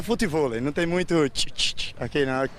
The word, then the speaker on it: futevôlei: se escreve assim, futevôlei, pode ser ouvido de forma bem diferente no Rio de Janeiro. Futevôlei. Mas é futevôlei. Ué, mas para escrever, a pronúncia é diferente. As pessoas percebem que existem duas maneiras de se falar as sílabas TI e DI.